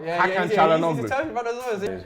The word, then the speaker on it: Hakan Çalhanoğlu: Hakan Çalhanoğlu. Çalhanoğlu. Oh, aye, the Turkish man's telling me. He said pronounce it right as well. Hakan Çalhanoğlu.